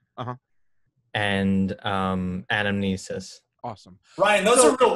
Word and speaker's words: anamnesis: And anamnesis.